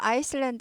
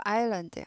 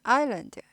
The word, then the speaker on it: island: 아이슬란드 하지 않고 아일랜드, 아일랜드. S가 발음이 아예 안 나는 묵음입니다.